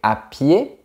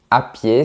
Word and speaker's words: à pied: c'est possible d'y aller à pied à pied signifie en marchant attention à ne pas prononcer la lettre D on dit ài si tu bouscules une